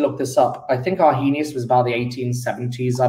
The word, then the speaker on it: Arrhenius: of acid bases, there was a guy called Arrhenius, a very famous chemist. His name is Arrhenius. Now, Arrhenius, I've got to spell it with a double R.